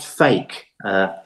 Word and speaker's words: PHEIC: A PHEIC, which is pronounced fake, Andrew.